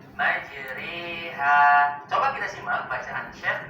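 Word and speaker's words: مجريها: di ayat ini tepatnya pada kata majroha terdapat hukum bacaan imalah imalah adalah mengucapkan suara fathah condong ke arah kasrah sehingga terdengar bunyi seperti huruf e majreha patokan suara e-nya sama seperti pada kata sore tempe majri jadi bacanya bukan majroha tapi majriha coba kita simak bacaan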